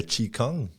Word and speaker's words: Qigong: Non, puis en plus, le Qigong, c'est drôle parce que ça s'écrit Qigong, mais ça se prononce Qigong.